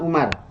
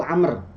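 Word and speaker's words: عمرو: engkau inginkan wahai Amr di situ bukan Umar di situ Amr ya kenapa Karena di depan rnya itu ada waya kalau Umar itu tidak ada waya Kalau ini ada waya dia dibacanya Amr Ar Saya menginginkan buku catatanah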